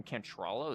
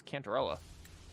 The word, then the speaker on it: Cantarella: Also, do you pronounce her name Cantrella? It's Cantarella.